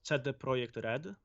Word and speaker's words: CD Projekt Red: quite long and actually we say that it's set the project red this is how you really pronounce that uh okay so when